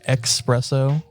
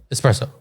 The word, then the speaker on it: espresso: espresso makes me laugh too and people say expresso i think i do say that but i